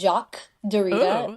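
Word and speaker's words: Derrida: want to say his name right but it's Jac Dita very fancy yes yes he introduced the concept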